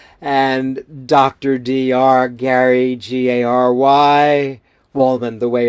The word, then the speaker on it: Wohlman: Gary, Gary, Wohlman, the way it's spelled, WOHLMAN.